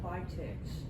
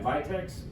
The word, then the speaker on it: Vitex: way or the other what about Vex I see if that's how it's pronounced yeah Vitex Vitex is uh it's called